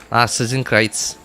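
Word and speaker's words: Narzissenkreuz: No, it's not supposed to be Nart. It's supposed to be Narcissan Kreitz.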